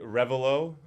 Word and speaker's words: Revilo: Yeah, so it should be Revilo. Revilo is how I first heard it. I wasn't the first one to come up with it. So it's my name backwards. So So Revilo is my name backwards.